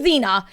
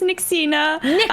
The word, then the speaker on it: Nyxena: it correctly please sure hello my name is nixina lots of people call me either like nyx uh nixie yeah some people say naisina xena i have many names but yes i pronounce